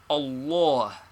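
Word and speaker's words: الله: how is allah pronounced the middle father is very broad and is pronounced like or in awful and this reacts upon the first fat also so we must practice saying allah though we still transliterate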